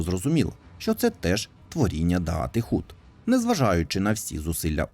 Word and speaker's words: Даат: грі можна почути що сетрот промовляє слово даат як даас Що більше відповідає правильній вимові на івриті у всесвіті волфенштайн нацистським